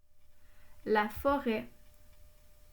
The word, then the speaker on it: forêt: La forêt. Ici, il y a une lettre muette à la fin, le T, et le son E s'écrit E accent circonflexe.